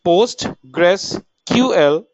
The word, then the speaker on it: PostgreSQL: data integrity and correctness post gree will be pronounced as post Gress ql is an open source relational database management system